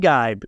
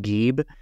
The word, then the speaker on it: Geib: gu I will say you will come across his name pronounced very differently I think when I was first reading about it in my head I was saying geeb yeah sometimes you'll hear refer to that however According to some documentaries that his family is involved with they say gu so I'm going to I'm going to assume that's the way you say his name would know they